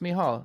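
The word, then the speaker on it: Mícheál: It looks like Michael, but of course, it's pronounced Mihal. It's Irish for Michael.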